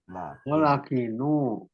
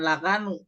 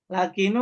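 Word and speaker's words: لقنوا: apa nih lakinu mautakum lakinu lakinu bukan lakanu lakinu apa aranya lakinu bimbing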